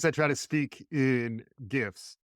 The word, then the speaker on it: GIF: Just because I try to speak in GIFs. And apparently it is a hard G. So a correction from a previous episode, the G is hard for some reason.